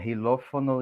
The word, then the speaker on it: xilófono: si están correctas el xilófono y xenofobia la dureza si se pronuncian como texas como este profesor ha explicado la la equis inicial si se va a pronunciar como ese no por ejemplo xenófobo xenófobo